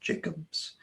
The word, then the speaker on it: Tom Jackobs: Looks like Jacobs, but it's pronounced Jacobs.